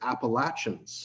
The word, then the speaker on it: Appalachian: the region Appalachia but it's like a hard sound instead of a show it might just be